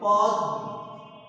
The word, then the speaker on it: পদ্মা: শব্দের শেষে যুক্ত আছে তাহলে যে বর্ণটির সাথে ম ফলা যুক্ত আছে এই বর্ণটি দুইবার উচ্চারিত হবে তাহলে আছে 10 এর সাথে 10 টা দ্বারা উচ্চারিত হবে পদ্মা দা পদ্মা এবং চন্দ্রবিন্দু তো আমি